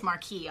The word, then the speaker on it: Marquess: word you say yeah it may be an American pronunciation it's Marcus to learn doesn't have it and then it's in French Marquis obviously right and now we've done that so p.m.